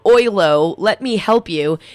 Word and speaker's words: Oyloe: Like oi, mate, right? Isn't that OI, though? Right. I don't know. It's like ahoy. How's that? There you go. Ahoylo. Just ahoylo. It's that silent E at the end that really throws a lot of people off.